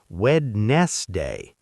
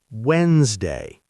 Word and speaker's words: Wednesday: Many learners say wedste all three syllables but native speakers say Wednesday. The d in the middle is completely silent.